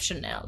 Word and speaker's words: Chanel: correct but I like I will forgive you if you said channel instead of Chanel no I don't care